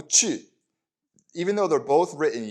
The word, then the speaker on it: 去: And this chu is pronounced that way because it really is this sound, U with an umlaut, but the umlaut isn't